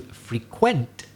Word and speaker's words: frequent: you if you're a frequent listener but if i change the stress and say to frequent and now it's the second syllable quent which is stress that means to visit a place regularly is there a pub that